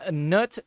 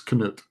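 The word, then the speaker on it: Knut: You pronounce the K in that, so it's Canoot.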